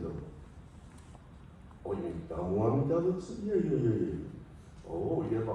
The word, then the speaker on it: Namu Amida Butsu: Well, it's okay, but you don't have to put the emphasis on the mu. You don't have to say Namu Amida Butsu.